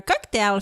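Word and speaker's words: Coqtail: On boit un cocktail fait avec les sirops infusés de la marque Cocktail. Cocktail qui s'écrit C-O-Q-T-A-I-L.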